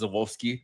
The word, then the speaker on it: Żuławski: What I was trying to like pronounce it perfectly, and it's like it's Żuławski essentially, but I'm like I can't, I'm not doing that. But they're like put an F in there.